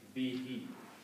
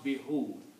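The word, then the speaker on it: بِهِ: for the recitation easiness we pronounce it like be he we don't pronounce be who it doesn't come out easy on the tongue okay we pronounce both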